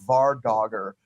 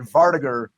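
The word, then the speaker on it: vardøger: heard who's brought up I always thought it was called the VAR dogger but vardiger is a much more elegant pronunciation but no no that's correct well I just it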